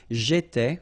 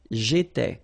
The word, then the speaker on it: J'étais: J'étais, okay? Remember here we've got accent aigu, so it goes like et, all right? J'étais.